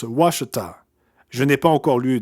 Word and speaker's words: Ouachita: de ouachita en arkansas ça s'écrit un peu bizarrement ont eu à ch itea mais ça se prononce washed à je n'ai pas encore